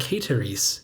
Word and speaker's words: ceteris: and the first and last syllables of the first word have long vowels, while the middle one is short. So the first word would be something like Ceteris in Latin.